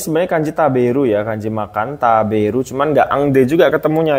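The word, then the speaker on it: 食べる: kanjabu ya kanji makan taberu cuman enggak engde juga ketemunya ya salah bentuknya salah kanjinya benar kanji makan Tapi bacanya bukan engde taberu nomor ini kanji Ai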